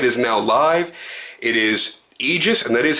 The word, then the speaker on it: Aegis: nothing the website is now live it is Aegis and that is how it's pronounced Aegis but I'll spell it out for you AEG